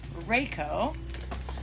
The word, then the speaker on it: Riakeo: you guys and again if you ever struggle to remember how to pronounce what we call Reiko just remember we will We Will Rock You Rocko